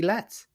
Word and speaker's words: Letts: For I think his name rhymes with get or gets. Let's try Tracy Letts.